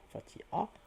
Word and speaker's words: Fatiha: En sachant que le H à la fin n'est pas prononcé, le H est muet, Fatiha.